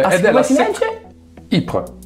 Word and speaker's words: Ypres: Ypres. Ah no, Ypres. Il Belgio è il Belgio francofono, sì. Scusate, l'ufficio pronuncia, ho sbagliato io. Fosse stato... Giuro, è Ypres.